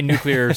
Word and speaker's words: nuclear: So my nuclear stuff is. I know not to say nuclear or however people say it wrong.